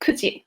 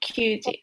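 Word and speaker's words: 九時: And then 9 o'clock would be kuji, not kyuji.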